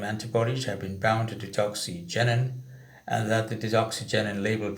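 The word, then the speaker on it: digoxigenin: Let me spell that again, or pronounce that again, deoxygenin.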